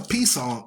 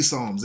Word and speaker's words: Psalms: there ain't no P Psalms it's Psalms Psalms the p is silent like terod the p is silent you just use the T in pterodactyl even though there's a p in the front you understand boy that